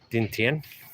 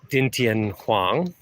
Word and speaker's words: Đinh Tiên: So, see that D? See how it's got that little line through it? That means you actually pronounce it as a D. Whereas when it doesn't have the the line through it, it's not a D.